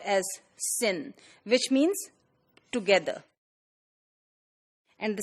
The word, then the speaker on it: syn: This part, that is taken from here, which is pronounced as syn, which means together.